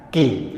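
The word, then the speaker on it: 気: Jadi Rei itu semesta, ki itu chi. Tapi orang Jepang membacanya ki.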